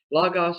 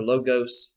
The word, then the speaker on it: logos: what the greeks called the lagos thing lagos or logos they're both okay pronunciations of the greek word here logos or logos